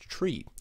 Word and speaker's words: trie: Before I start, I should note that the word try ought to be pronounced tree, as in retrieval, but since trees are